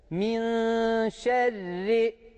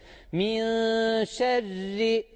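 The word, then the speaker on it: مِن شَرِّ: kalın okursak yanlış okuruz buradaki ra harfini Biz ince okuyacağız mahreci ş bu şekilde tecvit Kaidesi bu şekilde min şerri min şerri şerri bakın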